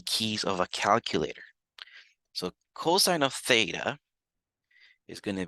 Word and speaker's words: cos: the first three letters so I'm going to call this COS of theta but we're still going to pronounce it as cosine again I'm just going